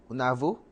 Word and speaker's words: ఉన్నావు: Unavu? ఉన్నావు. Unavu? ఎస్. Okay, so Chulu, నువ్వు Nuvu, చాలా Chala, అందంగా Andanga, ఉన్నావు. Unavu. So Chulu, నువ్వు Nuvu. నువ్వు means you. Yeah. Nuvu, చాలా. Chala, Andanga, Unavu.